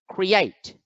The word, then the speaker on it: create: is create create create here you can see that the apostrophe is over the second syllable so the second part of the word must be accented so create create now let's look at